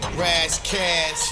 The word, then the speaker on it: Ras Kass: we tango for cash brass cash that's how you say his name but hold up man